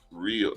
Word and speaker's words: REO: Rio pronounced Rio.